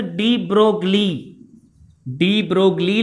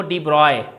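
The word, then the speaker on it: de Broglie: त हिते हिकिड़ो साइंटिस्ट आयो जंहिं छा नालो हुअसि, हूअं पढ़ंदा त लिखंदा आहियूंसि डी ब्रोगली लिखंदा आहियूंसि, लेकिन हिन जो नालो प्रोनाउंसिएशन में पढ़िबो डी ब्रॉय।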